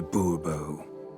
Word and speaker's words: Bourbeau: Monsieur de Bourbeau. The emphasis falls on the last syllable.